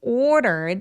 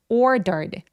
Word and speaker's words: ordered: 여러분 이거는 왜 어렵냐면 order가 사실은 모음 사이에 껴 있을 때 요럴 때 굴러가는 소리를 많이 내거든요. water 할 때처럼요. 근데이 굴러가는 소리가 한국어에 없기 때문에 되게 어려워요. 그래서 이걸 어떻게 소리 내면 되냐면 그냥 뒤로 발음하시면 돼요. ordered. Ordered 이렇게요. we ordered a bunch of food.